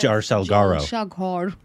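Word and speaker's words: জলসাঘর: Well, in Bengali, you pronounce it as Jalsaghar. Oh, there it is. Jalsaghar.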